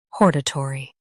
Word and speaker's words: hortatory: U.S. H-A-W-R. U.K. Hor. Last part, tari versus turi.